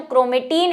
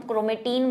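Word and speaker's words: chromatin: धागे समान संरचना है, इसको हम क्रोमेटीन बोल रहे हैं या क्रोमोटीन बोल रहे हैं, ठीक है, इंग्लिश हिंदी में दोनों में इसको क्रोमोटीन ही बोलेंगे, क्योंकि इसकी स्पेलिंग है जो वो ऐसी है, क्रोमोटीन। लेकिन हमने वही हमारे टीचर से क्रोमेटीन सुना हुआ है तो मुंह पे वही बैठा हुआ है ना, ये तो आप समझते ही होंगे।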